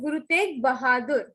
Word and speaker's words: Guru Tegh Bahadur: It is Guru Tegh Bahadur.